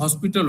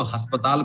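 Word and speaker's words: hospital: لیکن ہم لوگوں کو کوشش کرنی چاہیے، جیسے ہاسپٹل کو جب بھی ہم انگریزی میں استعمال کریں گے تو ہاسپٹل ہوگا، لیکن ہم نے اس کا معرت کر لیا اور اس میں ہم نے اس کو ہسپتال بنا لیا، ہسپتال بنا لیا.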